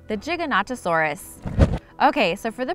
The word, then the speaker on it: Giganotosaurus: A Giganotosaurus should not be mistaken for a Gigantosaurus, which is a lesser-known herbivore that lived in England. So if you thought there was a pronunciation like that, you were correct. It was just a different dinosaur.